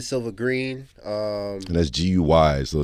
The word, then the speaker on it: Gui: green um and that's gu y so not not how I wrote it GE e it's gu y i oh guui yeah okay guy with an i okay so spell it